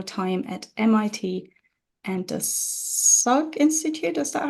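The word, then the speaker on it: Salk: spend the post-doctoral time at MIT and the Su Institute is that how you pronounce it yes great um and then joined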